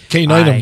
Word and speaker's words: caninum: Caninum, by the way. Caninum. Hate to correct your pronunciation. No, please, please caninum. Do. Caninum is in canine.